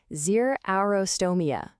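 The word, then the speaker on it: xerostomia: It's pronounced zerostrotoia.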